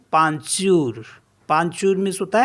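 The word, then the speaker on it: peinture: एन टी यू आर ई इसको पढ़ते हैं पंचूर पंचूर मीस होता है पेंटिंग नेक्स्ट वर्ड है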